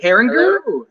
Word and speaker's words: Herringer: this is also herringer is that pronounced right here excellent he's the owner of